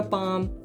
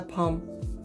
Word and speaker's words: Bom: gmat tiger but it's it's not an explosive it's not a bomb it's a palm just a little pet